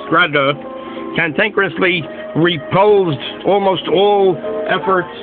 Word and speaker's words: Grade: Anyway, for more than 2 decades after his death in 1982, Ina Hecker Grade, pronounced Grada, cantankerously repulsed almost all efforts to translate or publish his works or sift through his papers.